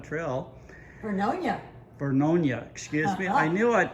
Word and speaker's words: Vernonia: parking lot for the trailhead at the Banks Vernonia Trail. Vernonia, excuse me. I knew I'd pronounce that name wrong enough times somebody would fix it.